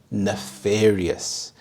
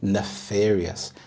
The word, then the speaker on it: nefarious: egregious next we have nefarious nefarious the stress is on the second syllable nefarious and I love pronouncing